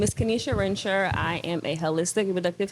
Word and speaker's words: Kennysha: And your name is pronounced Kennysha. Kennysha, yes. Kennysha.